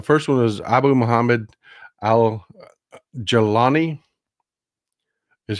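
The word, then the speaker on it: al-Jolani: The first one is Abu Muhammad al-Jalani, is how it's pronounced. It's not exactly how it's spelled, but al-Jalani is the head of Tahrir al-Sham.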